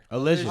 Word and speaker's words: Elysian: Elysian. Oh, Elysian. Oh, like collision, but Elysian.